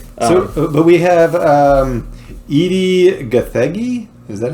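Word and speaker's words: Edi Gathegi: I hate that so but we have um Edie gathagi is that how you pronounce yeah yeah as Mr Perfect he played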